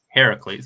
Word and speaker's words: Heracles: the sons of, is it, how do I pronounce this? Heracles.